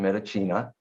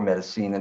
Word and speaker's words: Medicina: Now, my article on the vaccines was published in Medicina or Medicina, depends how you pronounce it.